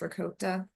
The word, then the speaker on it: ricotta: So you get some pecorino romano, some Parmesan shredded, some ricotta cheese, but it's really pronounced ricotta.